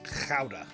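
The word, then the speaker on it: Gouda: who have told me it is pronounced chowder. Kind of like chowder but you know with a bit more of a So, let's um slice us out a watch there.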